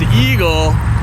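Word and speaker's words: EGLE: But we've been talking to the governor and telling her, you know, you said that everybody should pronounce the acronym for the Environmental Great Lakes and Energy Department as EAGLE, and to never, ever, ever impact any eagles.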